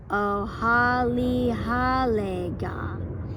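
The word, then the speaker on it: ᎣᏣᎵᎮᎵᎦ: so here's our word here's how you pronounce it oh holly hallega and that's that word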